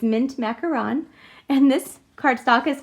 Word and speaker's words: Mint Macaron: finally learned how to say it right it's mint macaron and this card stock is cut at 5